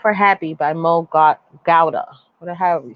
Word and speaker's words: Gawdat: happy by mo god gowda what the hell you say his name it's god but i think he says it gowda come on come on